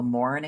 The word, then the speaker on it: Maurin: So, I am a president of something called the Morin Academy, and that's spelled Maurin.